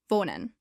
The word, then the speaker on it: von: Pronounce it as von once again.